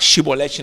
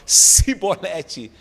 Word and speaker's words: Shibolet: Então, os efraimitas tentavam falar shibolete, não conseguiam, falavam cibolete. Vem cá, meu filho, tu é efraimita.